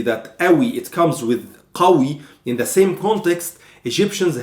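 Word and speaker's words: قوي: Or 95% we don't pronounce them, but some exceptions like this one, we have to pronounce the qaf. In this case, when I say qawi, it means strong.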